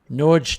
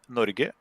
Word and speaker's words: Norge: Let me hear. Nudge. That. Nudge. We say Norge. That, yeah, at least in my dialect. Nando's, if he speaks what I think. Norge.